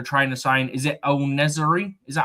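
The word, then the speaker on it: En-Nesyri: Is it El Nezari? Is that how you say it? El Nezari, yeah.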